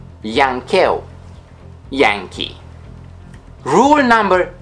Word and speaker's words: yankeu: of foreign origin, and the pronunciation of W and Y depends on the origin of the word they appear in. For example, darwiniană, darwiniană, Darwinian. Or yankeu, yankeu, Yankee.